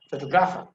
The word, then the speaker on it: photographer: And the second one is, you see, photographer, photographer, photographer, photographer.